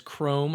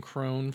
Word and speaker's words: Chrome: The parrot's name was Chrome. I kept saying Crone for whatever reason.